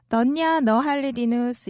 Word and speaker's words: धनिया नहालिदिनुहोस्: 던냐 너 할리디누스 이렇게 얘기합니다. 던냐 너 할리디누스. 역시 제 발음보다 현지인의 음성을 먼저 들어보겠습니다.